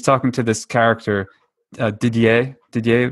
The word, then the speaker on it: Didier: Didier would be the pronunciation, I believe.